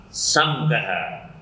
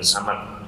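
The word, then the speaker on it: سَمْكَهَا: Dan juga kita tahu ayatnya kan bacanya rafa'a samkaha. Ya. Samkaha bukan samak.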